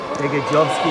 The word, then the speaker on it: Begajovski: Begajovski, he was telling me his name is pronounced.